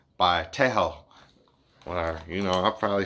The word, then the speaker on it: Tshego: Like this guy who you see, I'll say his name is Shago Tago. Like that, but I didn't want to say it wrong, and I ended up listening to this girl how she said his name. So she said it, and I tried to repeat it, and I sounded dumb. So I guess this is how you say it. What's up, Tim? How are you? Tejo, Tejo, Tejo.